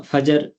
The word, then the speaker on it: فجر: تلفظ یہی ہیں، ہم فجر، ظہر، عصر یہ کرتے ہیں، یہ اس میں جو دوسرا حرف ہے وہ ساکن ہے۔ فجر، ظہر، عصر، مغرب،